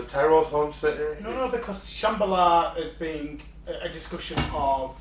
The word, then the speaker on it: Shambhala: I think in Hindu, was it called a I don't want to mispronounce it. Actually, you just call it Shambhala, is what it is.